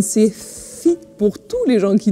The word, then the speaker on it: Secchi: Revenons à nos moutons, revenons à nos astuces et revenons à notre Pauline Secchi qui se prononce Pauline Sefi pour tous les gens qui nous suivent sur Twitch.